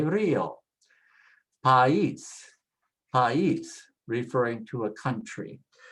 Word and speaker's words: país: País, país, referring to a country.